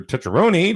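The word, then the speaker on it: Tucciarone: it and they said just say it like this touch your own knee touch that's right so so john goes and it's time now for tetrony to come up and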